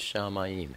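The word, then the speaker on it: שמיים: that would be heaven it's always Shamayim heavens and the word is shamim it's spelled shenme yodme shen picture of two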